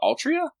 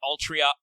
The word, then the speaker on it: Altria: What, Altria? Yeah. I Altria? also literally don't know, because the pronunciation is the same in Japanese. They just choose to Romanize it weird. It is weird.